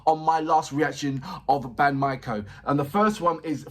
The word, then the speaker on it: BAND-MAIKO: He said it's BAND-MAIKO, and he's putting my-ko.